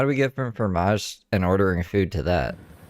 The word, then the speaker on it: fromage: Fromage. You gotta roll it, you know? You gotta roll that tongue.